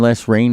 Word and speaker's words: Lesrayne: The band Les Rain is out of Easton, and if you want to know more, just go online on Facebook and look up Les Rain, and it's spelled Lesrayne.